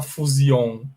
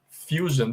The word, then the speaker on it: fusion: Eu acabei de mostrar para vocês que a gente não fala fusion, a gente fala como? Esse S-I-O-N a gente pronuncia com som de jan. Então se fala assim, ó, fusion, fusion. This is the correct pronunciation, ok?